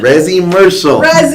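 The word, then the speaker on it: Resimercial: We have Chris Foster showcasing the Resi-mercial movement. Am I saying it right, Chris? Resi-mercial. Okay, excellent. So tell us more about it.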